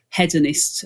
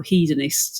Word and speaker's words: Hedonist: away from us there's hedonist or hedonist it's pronounced here chocolates and they have